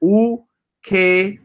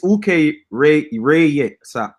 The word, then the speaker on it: Ukerewe: All right, so this is how you pronounce it. Ukerewe. Okay, it's Ukerewe. Oh man, I'm about to do that in the Wapian thing.